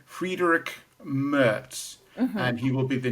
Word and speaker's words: Friedrich Merz: My pronunciation right because I got it wrong on Monday's video. The chap's called Friedrich Merz, and he will be the new chancellor, and he's called for more support for Ukraine.